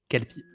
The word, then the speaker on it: kelpie: Parce que bah, moi, c'est vraiment comme ça se prononce avec un K, quoi. Alors, K, E, L, P, I, Hermione. Kelpie.